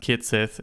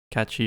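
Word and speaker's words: Cait Sith: The controversy is, Kobe, that they revealed the quote-unquote official way to pronounce the name of, you know, Reeves' puppet character. in Final Fantasy VII, and they chose the wrong one. It says pronounced Kitsith instead of Kachi or Ketchi, which has ignited enough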